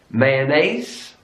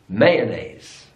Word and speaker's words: mayonnaise: another French word here in British English mayonnaise mayonnaise is on the last syllable American English mayonnaise mayonnaise is on the first syllable mayonnaise British English mayonnaise